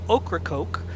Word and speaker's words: Ocracoke: all carry the name okra coke which incidentally is pronounced like the vegetable and the soft drink oh nailed it here